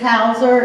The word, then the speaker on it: Hauser: my name is Miss Hauser if you need to call me you can't remember my name think back to that TV show Doogie Howser and that's how you pronounce my name I've even been called